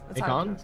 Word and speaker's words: Hakon: We can call him Hakon. Hakon? Hakon. Hakon. I have been told that's how we pronounce it.